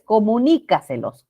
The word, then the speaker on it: comunícaselos: ya El otro es comunícaselos Ajá comunicaselos así es porque es una palabra sobreesdrújula no implica decir celos comunicas ya algo más